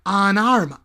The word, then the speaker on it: an arm: brazo y una pierna, fijaos cómo lo pronuncio, it costs an arm, Ana, como mi prima Ana, it costs an arm, and a leg.